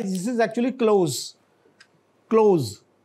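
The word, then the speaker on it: coup: या उसको, हाँ, इसको मिलिट्री कू भी कहते हैं, कू डेटा भी कहते हैं, लेकिन अब ज्यादा लफ्ज मिलिट्री कू आप देखेंगे वेस्टर्न मीडिया में भी मिलिट्री कू ज्यादा यूज होता है, तो यानी पी साइलेंट है कम से कम, ये जरूर जहन में रखें।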